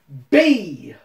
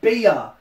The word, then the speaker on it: Bea: for the secret rare ultra rare rainbow rare b or br or bay depending on how you pronounce it when i played the game i was pronouncing it uh beer because i'm a big idiot